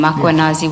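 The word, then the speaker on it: Mkhwanazi: Do you see the title of the document draft for MMC iPad Makuanazi just as you pronounce his name Makuanazi with the A?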